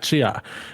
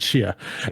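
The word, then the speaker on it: Tchia: So, games of impact: A Space for the Unbound, Chance of Sanana, Goodbye Volcano High, Chia. Yeah, T is silent in it. Chia.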